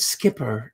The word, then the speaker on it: Skipper: It's Richard Skipper, isn't it? That rhymes with flipper, flipper, flipper.